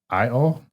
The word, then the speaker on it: Provenio: It's Provenio. Yep, like proven IO.